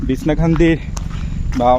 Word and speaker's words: বিছনাকান্দি: share করব তো চলুন বিছনা কান্দি আসলে আমি খান্দি খান্দি বলছি আমাদের সিলেটের উচ্চারণ আমরা এভাবেই করি মূলত উচ্চারণটা হবে বিছানা কান্দি আচ্ছা যাই হোক তো